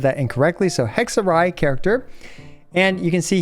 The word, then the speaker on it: Hexerei: Oh, apparently it's pronounced hexorai, not hexay. So, I apologize for the 100 times I've said that incorrectly. So, hexarai character.